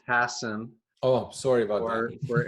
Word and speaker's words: Hassan: me um and my last name is pronounced Hassen oh sorry about that